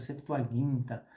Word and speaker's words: Septuaginta: baseado na septuaginta que na verdade se pronuncia septuaginta porque esse som de Gi não existe em grego e quando nós pegamos